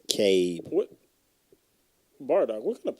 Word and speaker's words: Cabe: Bro, It's Cabe.